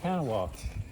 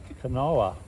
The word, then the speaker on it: Kanawha: You'll look at it, you probably think Kanawha, but it's an Indian name and it's Kanawha.